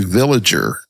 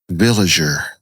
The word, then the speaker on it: Villiger: So I looked it up Swiss pronunciation would be villager. Okay. Now that's good to know. I don't know if that's how it's pronounced but what I can find it's a soft villager.